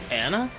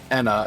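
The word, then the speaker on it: Ena: Anna? Enna. It's spelled E-N-A.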